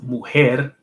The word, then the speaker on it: mujer: Woman is mujer. Mujer. And that's M-U-J-E-R. And so, like, I think, well, the J's has like a silent, it's pronounced like a silent H.